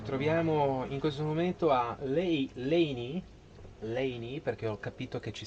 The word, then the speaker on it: Leinì: Ci troviamo in questo momento a Leni, perché ho capito che ci sta anche l'accento sulla I.